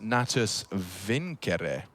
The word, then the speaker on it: Natus Vincere: navi's full name and want to say it correctly as in the latin uh it's actually pronounced nattus vincere okay so there you